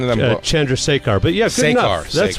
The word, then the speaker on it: Chandrasekhar: Chandrasekhar.